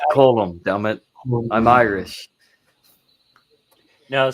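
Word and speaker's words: Colm: a hell of an yeah colum colum it's pronounced colum damn it I'm Irish no see call no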